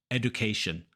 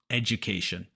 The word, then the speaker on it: education: almost always pronounce this education but it's education the D is actually pronounced like a j so I like to call this the hidden J sound it can take some